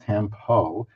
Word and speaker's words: tampo: have understood it is tampo and it is pronounced tempo not a tempo like I said in the